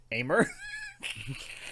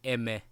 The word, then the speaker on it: Aimer: It's supposed to be pronounced like it is in French, I guess.